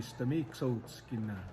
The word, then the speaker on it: Stamiksoskina: I guess the correct way to say it would be Stamiksoskina, which means Bullhorn, and that's the community we grew up in.